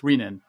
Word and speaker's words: renin: renin he a card neologist will make fun of you if you call it renan so just please if you don't remember anything just remember that it's reenan I found so I